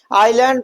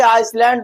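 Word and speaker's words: island: आइसलैंड नहीं पढ़ते हैं बल्कि क्या पढ़ते हैं? आइलैंड पढ़ते हैं। बहुत से लोग इसे आइसलैंड बोल देते हैं। वो क्यों बोलते हैं? क्योंकि उन्हें मालूम ही नहीं है। यहां पर यह साइलेंट है। तो अब आपको आइसलैंड नहीं पढ़ना है। अब क्या पढ़ना है भैया? आइलैंड पढ़ना है।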